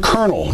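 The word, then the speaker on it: colonel: the name but then look at the word kernel it's pronounced Ed with an r and there's no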